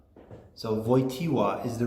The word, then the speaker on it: Wojtyła: His name is Karl Wojtyła. It's a hard name to pronounce for non-Poles because the W is like a V, and the L in his name is not an L at all.